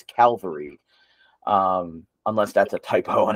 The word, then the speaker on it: Calvary: Cavalry. I read it like cavalry, like a cavalry of herd, but it's spelled Calvary. So I think it's Calvary.